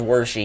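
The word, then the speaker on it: Wershe: she or some worse it looks like worse but they pronounce it as were she in the movie so I don't know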